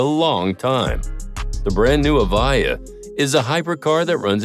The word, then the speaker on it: Evija: Our 6th pick, Lotus Evija, which is pronounced Evija, is another supercar that will blow your mind away.